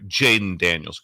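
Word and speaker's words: Jayden Daniels: that so I think make sure I say it right Jaden Daniels correct yes for LSU yes Jaylen Jaylen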